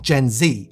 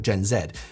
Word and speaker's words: Gen Z: found it surprising just how many Brits say Gen Z as opposed to Gen Zed. Though some do still say it Gen Zed, but they're fighting against the grain.